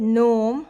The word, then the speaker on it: gnome: but k is silent the word gnome we write it with g n but g is silent what where which in